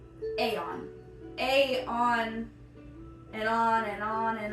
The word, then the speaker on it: Aeon: I don't know how to explain this other than you got the word on, like you're on top of something, but you aren't. An A is on top. Aeon.